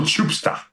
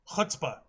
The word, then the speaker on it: chutzpah: A little chupsta. Chutzpah. Thank you, that's the one. Thank you. Yeah, that's how that's pronounced.